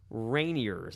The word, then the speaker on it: Rainiers: They played the Tacoma Rainiers. I think that's how you say it. Yeah, it's like the mountain.